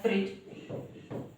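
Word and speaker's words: fridge: इसी तरह से हमारा हो गया फ्रिज, यहां पर भी डी के बाद हमें जी दिया गया है, इसी वजह से गाइस ये जो डी है इसका प्रोनाउंसिएशन यहाँ पे जा हो गया है।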